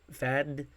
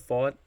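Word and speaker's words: Pfaadt: And I'm happy I'm now pronouncing his name right because I was saying Fad instead of Fought.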